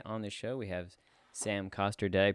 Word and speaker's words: Sam Coster: Today on the show, we have Sam Coster. Did I pronounce that right?